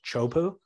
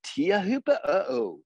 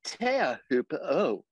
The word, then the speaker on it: Teahupo'o: Turpel is calling it chopu. And now Joe Turpel is making a bit more of an effort. We are here at Teahupo'o. Exactly. So Teahupo'o. Laura Eniver's calling it chopu.